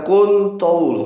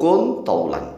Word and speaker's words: كُنْ طَوْلًا: Jadilah kamu panjang nah tetapi orang Jawa biasanya dulu ini dibacanya waqaf waqf itu berhenti dihentikan sehingga terbaca kuntul kan begitu kuntul padahal tidak boleh wakaf cara membacanya enggak wakaf nih ya dakaru kun thlan wahai Dakar Kun Jadilah